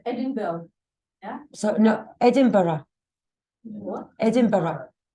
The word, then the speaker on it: Edinburgh: Yes, Edinburgh. Okay, so what's Edinburgh? It's a place, it's the capital of Scotland, okay? But definitely it's not Edinburgh. Yeah, because that otherwise it would sound like burger.